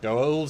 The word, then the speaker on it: Goa'uld: Goa'uld, Stuart.